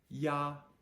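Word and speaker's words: ia: to I a and I a is pronounced like y a yah yah if you think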